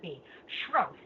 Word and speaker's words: Sroufe: my name wrong it's schro so it's Sr and long o as in loaf okay thank you shro I'm so sorry I've